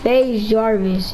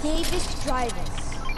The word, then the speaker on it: FaZe Jarvis: It's FaZe Jarvis.